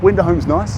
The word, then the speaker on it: Wenderholm: I like Wenderholm. Wenderholm's nice. Yeah, it's Am I pronouncing that right?